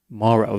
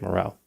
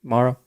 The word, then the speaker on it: Morrow: now some people said the pronunciation is mauro vic morrow i always say vic morell but apparently it was like russian or something vic maro either way vic and